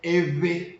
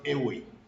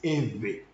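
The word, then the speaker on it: Eʋe: It's not Ewe, but it's Eve. But because the word Ve cannot easily be pronounced, that's why people are using W to represent it by saying Ewe people.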